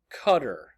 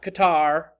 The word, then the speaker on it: Qatar: feet in height number two the country of Qatar it's not Qatar it's better pronounced simply Qatar Qatar is also an emirate